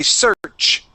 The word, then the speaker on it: search: You're going back to that sh sound. Okay. We want to stop the air.